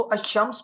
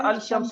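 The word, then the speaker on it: الشمس: इसको अशम्स पढ़ेंगे या अल शम्स पढ़ेंगे? अल शम्स पढ़ेंगे या अशम्स पढ़ेंगे? अशम्स पढ़ेंगे। इसमें अल जो है वो आपका साइलेंट रहेगा।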